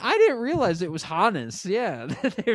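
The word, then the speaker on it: Hannes: I didn't realize it was Hanens. Yeah. Okay. Hanens Steinbach.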